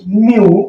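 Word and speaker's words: mew: भी धोखा देना होता है एम ई डब्लू म्य म्यू मतलब म्या यानी बिल्ली की आवाज प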